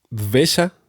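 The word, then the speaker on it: द्वेष: Esta palabra se llama o se pronuncia dvesha, ¿sí?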